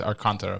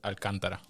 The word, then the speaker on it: Alcantara: For Americans, Alcantara. For Dominicans, Alcantara.